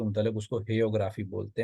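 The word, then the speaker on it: hagiography: हेयोग्राफी, ये जी साइलेंट आएगा पहले वाला जो है, ये जो बायोग्राफी से ही ये वर्ड निकला है।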